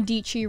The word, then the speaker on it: Dietschy: solve a problem so sara dietschy rhymes with peachy that started out of